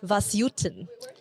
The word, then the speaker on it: Vasyutin: want to respect his names it's Dr Ruslan vasuten have died perfectly you're very kind very very